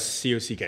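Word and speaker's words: kak: So you're talking about C-O-C-K.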